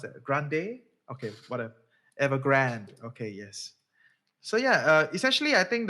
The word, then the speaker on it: Evergrande: from the likes of Avang, how do you pronounce that? Grande? Okay, whatever. Evergrande.